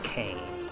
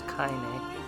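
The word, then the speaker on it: Kainé: her name correctly because i've always seen it and thought it was kane and now that i'm playing it i'm learning it's kinda so here i figure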